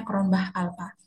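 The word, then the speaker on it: Cronbach alpha: Kalau diuji relabilitas kita melihat em nilai Cronbah alpa atau Crownbch alpha ya bacanya kronbah alpa.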